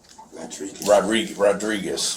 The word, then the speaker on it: Rodriguez: and you pronounce it Rodriguez, like with a D.